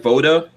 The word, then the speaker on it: VODA: Voda Consulting.